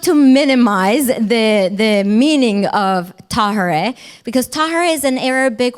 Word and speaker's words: Tahirih: We often say Tahirih, like hooray. And so oftentimes during our galas, the audience even says Tahirih. But it's not to minimize the meaning of Tahirih, because Tahirih is an Arabic word that means the pure.